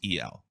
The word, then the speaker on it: El: people don't realize that it really is Al but it's pronounced El yes it's all the